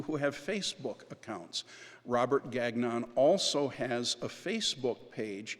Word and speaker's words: Gagnon: And he says, "Well, if we were French, we would pronounce it Gong, but we just pronounce it Gagnon."